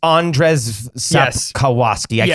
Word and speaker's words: Andrzej Sapkowski: can't remember what how you pronounce his name. Say his initials. It's Andrzej Sapkowski.